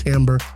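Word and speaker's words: Timbre: Yes, it's pronounced Timber.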